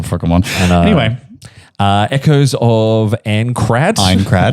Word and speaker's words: Aincrad: Aincrad, I believe it's pronounced.